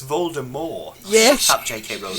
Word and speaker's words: Voldemort: See, when Harry's like asleep and he's hearing all these visions from a Voldemort. I'm pronouncing the T.